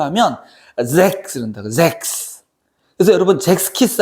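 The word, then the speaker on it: Sechs: 그러니까 독일어로 다시 발음하면 잭스, 잭스. 그러니까 Z 발음 비슷한 거 있잖아. Z 발음. 잭스. 이렇게 얘기한다. 근데 이제 독일어 시간이 돼서 처음 배우는데 그럼 선생님이 막 너 읽어봐 이렇게 시키잖아.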